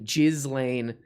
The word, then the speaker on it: Ghislaine: for that g let me say it correctly jizz lane uh interruption what up p what up we